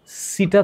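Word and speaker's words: setae: আর এনেলিডার রেচন অঙ্গ নেফ্রেডিয়াম এবং ওর সিটা থাকে সিটা এই সিটা মানে এই সিটা মানে সিটা বাংলা উচ্চারণ করলে সিটা হবে না হবে সিটি এটা কি করে এইযে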